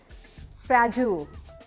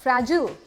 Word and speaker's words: fragile: इसके 2 तरह से बोलते हैं, एक अमेरिकन प्रोनाउंसिएशन है, एक ब्रिटिश प्रोनाउंसिएशन है। फ्रैजिल इज राइट, फ्रैजिल अमेरिकन प्रोनाउंसिएशन है, फ्रेजाइल इज ब्रिटिश प्रोनाउंसिएशन।